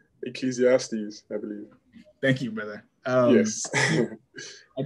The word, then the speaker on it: Ecclesiastes: But can someone help me with the pronunciation? Ecclesiastes, I believe.